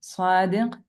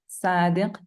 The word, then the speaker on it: صادق: صاد as in صادق, صدقة, usually wrongly pronounced as صادق, صدقة. The difference.